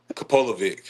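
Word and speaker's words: Kapilovic: Is that putting the pressure on you now when I ask you to pronounce the name? Kapolovic.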